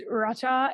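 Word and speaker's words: רצה: it's Racha, and it's spelled Rasa, and that struck me so strongly.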